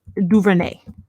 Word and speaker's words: DuVernay: Like, I just don't know how to pronounce her last name. Ava, how you say her last name? Duvernay.